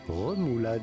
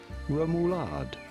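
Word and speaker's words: rémoulade: Romoulade is how it would be said in France. But it would be fine in English to say Romoulade.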